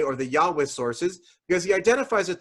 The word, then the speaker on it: Yahweh: If you just pronounce the letters as they're written, one way to do that is what's called Yahweh. You might have heard that name of God before.